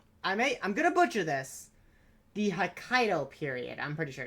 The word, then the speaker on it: Hokkaido: of, which was, I'm gonna butcher this, the Hokkaido period, I'm pretty sure it's called. I probably butchered that. It's probably might be the wrong period, but No, essentially- you're correct. It's pronounced Hokkaido.